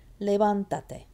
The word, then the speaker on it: levántate: It's still on the van, except guess what? Now 1, 2, 3. Van is now farther away from the end of the word. It's now 3 syllables or more from the end, 3 in this case, so it gets an accent.